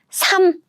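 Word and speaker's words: 삶: Okay, now we have this word, 삼. Do you hear that? 삼. I didn't use the first 받침, I used the second 받침 sounds as in 삼.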